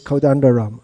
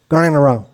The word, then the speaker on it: Kodandaram: So you may politely explain, actually my name is Kodandaram. Okay, Gananaram.